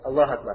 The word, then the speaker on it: Allahu Akbar: Ini bacanya ya, Allahu Akbar.